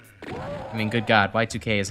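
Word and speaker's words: YIIK: um I realized that apparently uh you know uh hit postmodern classic RPG Yik is actually probably meant to be pronounced Y2K because of you know the two eyes being Roman numerals I never put those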